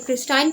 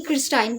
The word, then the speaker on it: Christine: पहले बात करते हैं कि क्रिस्टाइन की या फिर क्रिस्टीन अब डिफरेंट लोग इसको डिफरेंट प्रोनाउंस कर रहे होते तो मैं तो इसको क्रिस्टाइन ही बोलती हूं खैर जो भी है